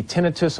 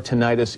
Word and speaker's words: tinnitus: First of all, it can be tinnitus or tinnitus. Either is correct. It really doesn't matter. Either pronunciation is acceptable.